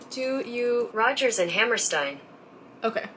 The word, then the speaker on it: Hammerstein: Rodgers and Hammerstein. Okay. Even my name is Stein. Why am I pronouncing it then?